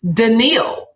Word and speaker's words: Danielle: in IE ll e which regularly spells danielle right but it's pronounced daniil no that is so